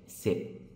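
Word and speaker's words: สิบ: 起就是十但是呢发音并不是一和零连起来发不是冷损是什么呢是 si 它有自己的发音 si 汉语意思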